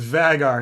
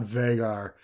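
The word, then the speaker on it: Vhagar: monster later so um it's vagar not vegar it doesn't pronunciation doesn't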